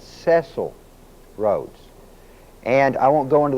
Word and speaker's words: Cecil Rhodes: Most people pronounce it Cecil Rhodes, but it's not. It's Cecil Rhodes.